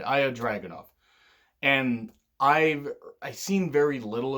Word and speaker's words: Ilya Dragunov: Cesaro's in NXT UK, and it's Ilya Dragunov. If I mispronounced that, I do apologize. I really do. I almost said Ilja, and I'm like, no, that's not right. Ilya Dragunov.